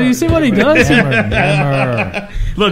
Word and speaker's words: Nemr: Nemr. Look, let me give you a good way to remember it. It's like simmer, but hotter. Nemr.